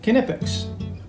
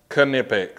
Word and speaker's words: Knipex: have it it's pronounced canipix so we can put all the myths to bed about having a silent k and this and this